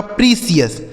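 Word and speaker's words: precious: तो पी आर ई से दोस्तों हो गया प्री। सी आई ओ यू एस का उच्चारण हो गया सीियस। यह लिखा गया आपका प्रिसियस।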